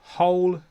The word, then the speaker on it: whole: When W comes before HO, sometimes we don't pronounce the W, but sometimes we do. So whole, who, whose.